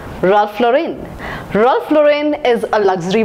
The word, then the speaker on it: Ralph Lauren: woman the next word in the list is role Lauren it should be pronounced as Ralph Lauren Ralph Lauren Ralph Lauren is a luxury brand the next